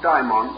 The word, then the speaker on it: daimon: For many years, I made a point of dividing the pronunciation, calling one our familiar term, the term demon, and the Greek form daimon or daemon. The dictionary, however, prefers us to use the same pronunciation.